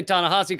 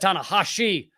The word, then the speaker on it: Ta-Nehisi: Now, I've heard people say Ta-Nehisi Coates. I've heard people say Ta-Nehisi Coates. Either way, he said Ta-Nehisi Coates. He's got an SH in there.